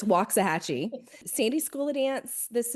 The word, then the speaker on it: Waxahachie: We are in Waxahachie, Texas. We moved here about 10 years ago. Before we moved here, I thought it was Waxahachie. So it's Waxahachie.